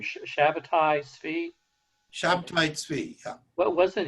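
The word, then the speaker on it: Shabbetai Tzvi: I always pronounce this guy's name, Shabbatai Tzvi.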